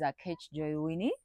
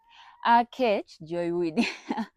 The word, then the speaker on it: Aketch Joy Winnie: If you're new on here, my name is A Joywini. A that's how they pronounce my name. A Joywini.